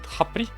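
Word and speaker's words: Khepri: this scarab was called Hapri. I remember it because it was rhyming with happy.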